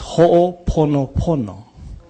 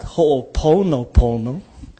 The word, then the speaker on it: Ho'oponopono: And it's Ho'oponopono. It is not Ho'oponopono. It's Pono. Yeah? It's Ho'oponopono. Not Pono.